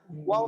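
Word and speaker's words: واو: হ্যাঁ, এই যে ওয়াপ বলছেন না, এই জন্য ভুল শোনা গেছে। ওয়াপ না, ওয়াও পেশ উ।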